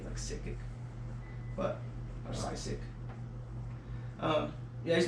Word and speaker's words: Sickick: It's like spelled like psych and then sick. Like sick or sick. I think it's like Sickick.